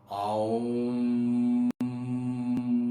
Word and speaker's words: AUM: Colour is Indigo, और यहां पर जो आप उच्चारण करेंगे वो है आउम। यहां पे आउम है, AUM, आउम।